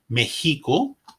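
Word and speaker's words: México: derived from indigenous languages it is like a.j when interval colic meheeco me hey and like an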